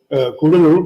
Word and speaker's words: Cuddalore: off the coast of Cuddalore. It's actually not pronounced Cuddalore anymore, thank God, Kudalur, but anyway, Cuddalore is what they called it, fought between a